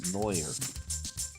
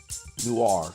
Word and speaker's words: noir: Pixel Neer. Noir. Sorry. Noir. I'm pronouncing it wrong. I don't know how you get new Rir with an I in there. That's weird. But yeah, noir.